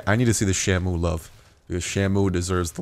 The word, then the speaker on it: Shamu: you pronounce it's not you can't just say Shamu you got to say Shamu you got to really put the emphasis on the o just a bit heads